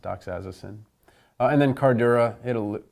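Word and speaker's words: doxazosin: torez erson docks addison i've also heard it pronounced docks as Osen but I've always pronounced at Doc's assasin and then card era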